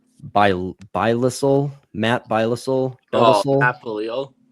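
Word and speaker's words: Belisle: Bilisel, Matt Bilisel. Oh, Matt Belil. Belil.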